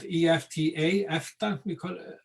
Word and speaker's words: EFTA: It's a coalition called EFTA, we pronounce it, and that includes Iceland, Norway, Switzerland, and Liechtenstein, if I remember correctly.